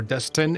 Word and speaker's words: Dustin: Wow, man, the times I've heard my name, Dustin, or Dustin, if you pronounce it the English way. My name is actually pronounced Dustin.